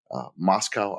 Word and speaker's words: Moscow: We're going to talk about our trip to Moscow, Idaho, which I think I'm saying it wrong.